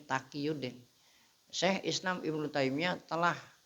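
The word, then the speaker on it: Taqiyuddin: Takqiyudin Ahmad bin Taimiyah ini bacanya Takqiyudin.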